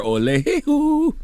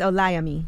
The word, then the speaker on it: Olayemi: I was calling her Olehu. What? Alec Karakatsanis. I was. And Olayemi Olorin. Olayemi. Olayemi. Salute to Olayemi. Okay, well, mm-hmm. We're going to speak with them next. I still don't feel like I'm pronouncing it right, but I'm going to tell you something. Yeah, she said it's Olayemi.